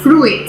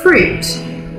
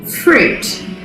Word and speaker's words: fruit: say it it's not fruit so there are not two syllables there we actually pronounce this word fruit fruit so many students make